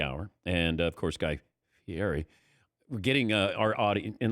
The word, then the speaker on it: Fieri: He'd go, it's Guy Fieri.